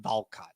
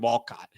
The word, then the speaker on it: Walcott: I think that's how you say it's not Valcott because I that mean that would mean that it's he's Yeah, I don't know. But it's definitely Sebastian Walcott.